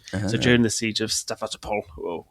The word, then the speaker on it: Sevastopol: So during the siege of Sevastopol, I'll say it properly, but I just panicked there and said it too quickly. Sevastopol, his experiences were part of the thing that documented how bad the military leadership was.